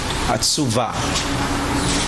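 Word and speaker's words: עצובה: So the way you pronounce it is asuva. Atsuva. That's a ve.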